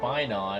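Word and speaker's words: Phainon: His name is Finon, and it rhymes with Paimon.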